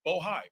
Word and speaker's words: Bohai: I want to make sure I pronounce it right. Bohai, B-O-H-A-I.